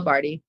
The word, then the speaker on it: Bardhi: Um, so Barty, P A M A, last name Barty, rhymes with party, but not spelled that way.